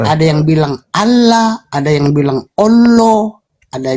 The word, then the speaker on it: Allah: Oh, yang benar yang Allah. Bukan Allah, ya? Bukan. Allah. Ada juga yang bilang itu, ada juga yang bilang huruf A-nya dua itu huruf A-nya dua itu jadi O jadi Allah.